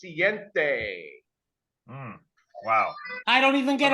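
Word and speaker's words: siete: In Spanish, it's pronounced siente.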